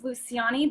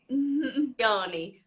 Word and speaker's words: Luciani: So it's like the way we say it is Luciani, but technically the way you would say it is with the hard C.